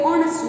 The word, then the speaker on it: honest: In this, H is silent. H we don't pronounce. We don't say honest man. We say honest man.